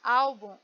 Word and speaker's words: álbum: A palavra álbum, ela tem duas sílabas, a última e a penúltima. Então, nesse caso, a penúltima é a mais forte. Álbum, olha como eu coloco mais força no ao, né?